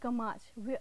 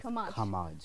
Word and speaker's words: खमाज: पहले तो थोड़ा सा उसकी प्रोनाउंसिएशन जो है वो दैट इज खमाज।